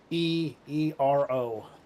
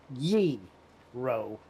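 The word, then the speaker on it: gyro: It's Yeero. So more pronunciation on ye-ro instead Euro.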